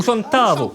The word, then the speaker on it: chantavo: Voilà, ou chantavo. C'est-à-dire que vous allez avoir l'accent sur le A, ou chanta, et un tout petit O à la fin, ou chantavo.